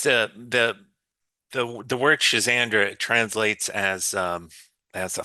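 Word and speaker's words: Schisandra: There's another one called Chisandra. Always reminds me of a um something a magician would would say, but it's Chisandra. It's spelled S C H I S A N D R A.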